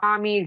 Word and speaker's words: Maumee: It's a festival that happens in Fort Wayne, and Mommy is spelled Maumee.